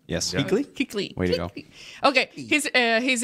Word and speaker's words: Kuechly: Kuechly.